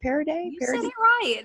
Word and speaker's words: Parady: with me is that how I say it parody which is great because most people mispronounce it so awesome job thank you I